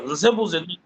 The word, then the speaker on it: Nzebunze: I thought I didn't pronounce it very well, but I just looked. I pronounced it very well. Nzebunze.